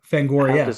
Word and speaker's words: Fangoria: Fangoria. one? Fangoria. Okay. So, one does want to pronounce the I.